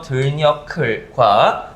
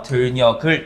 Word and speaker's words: 들녘: 들녀클이라고 하는 단어가 나와 있는데, 그것의 표준 발음으로서 들녀클과 비표준 발음으로서 들녀글 이렇게 나와 있죠.